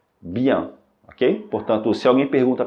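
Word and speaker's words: bien: que juntas tem som de a Ok portanto pronúncia correta é Bian Ok portanto se alguém pergunta para você como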